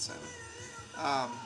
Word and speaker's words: Salmon: That's how you pronounce that, Salmon.